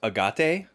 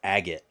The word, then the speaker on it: agate: Japanese perspective but yeah when you're talking about like stones it's agot which is a very nonobvious pronunciation it looks like a aate or Agate but it's agot that's the signal hurry